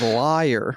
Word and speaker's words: lawyer: Jesse Ferrar from yks he says liar which I think is the Tennessee pronunciation of lawyer great they don't say